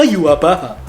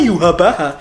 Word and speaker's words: Yhwach: main Bleach Brave Souls pasti nggak tahu kalau pengejaan namanya aja Yhwach. Aku pun juga begitu soalnya. Aku baru tahu kalau ternyata cara bacanya Yhwach itu ya dari game ini.